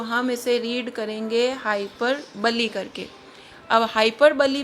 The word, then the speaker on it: hyperbole: जब आप इस वर्ड को रीड करेंगे तो आपके पास वर्ड है BOLE, तो हम कई बार इसको पढ़ सकते हैं हाइपरबोल या हाइपरबोले, लेकिन ऐसा नहीं है।